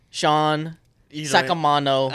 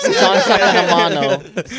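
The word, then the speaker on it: Sean Saccomanno: We're here with Samson, Justin, that's me, Hunter, and our special guest today, we have Sean Sakamano. Close. Sean Sakamano.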